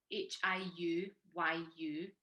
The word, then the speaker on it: Hiuyu: Now, the thing is, my Chinese name is spelled Hiuyu, so that's why people can't usually pronounce it when they see it. But you pronounce it Hiu, which is ironic and really, I Yeah.